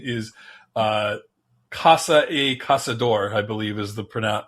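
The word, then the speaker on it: Caçador: Um, I believe the pronunciation is uh, Casa Casador, I believe, is the pron the correct pronunciation. Uh Milton had taught me that that C with the little thing on the bottom is pronounced like an S.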